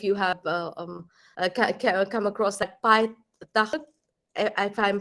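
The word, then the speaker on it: Payitaht: have come across that Pai Takht, if I'm pronouncing it correctly. In Urdu, we pronounce it as Pai Takht.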